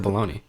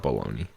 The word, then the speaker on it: bologna: Dude, that's my wife, except it's ham instead of bologna. It's disgusting. Ham I can dig, but not bologna. Bologna? Bologna. Heck nah. You don't even pronounce the bologna. G. It's ridiculous.